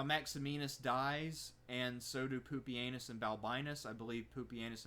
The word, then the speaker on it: Pupienus: Yes, that is how you pronounce his name. If you know Latin, that says Pupienus.